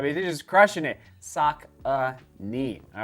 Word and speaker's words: Saucony: you Saka I mean they're just crushing it sock uh knee all right and the pronunciation there's the Peregrine 13.